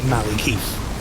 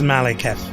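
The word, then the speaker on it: Maliketh: officially i gotta say his name is definitely not maliki whatever there's no eye that's male kev unless miyazaki tells me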